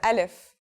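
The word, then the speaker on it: ا: We'll start with Aleph. So what sound does this letter make? That's easy. It's just like its English counterpart A in the word apple.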